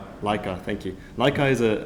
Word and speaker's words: Leica: Leica Leica, thank you.